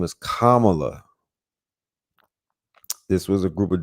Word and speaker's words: Kamala: Kama you know Kamala and I've been saying Kamala for the whole time why did nobody over